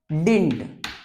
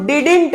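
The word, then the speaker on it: didn't: पर समझ लो कि डिड plus not equal to डिंट इसको डिडेंट मत पढ़ना ये डी क्या होता है साइलेंट होता है तो सीधा डिंट डिंट तो डिड और नॉट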